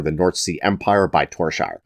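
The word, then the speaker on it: Tore Skeie: North Sea Empire by Torshire. And I know the pronunciation doesn't match the spelling, but I swear that's how he chose to say his name in an interview, so that's what I'm going with.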